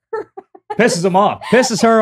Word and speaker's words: Perez: My last name, you say Perez. Okay, because my cousin married a Perez. And really? Yes. And I say it like that. I always say Perez.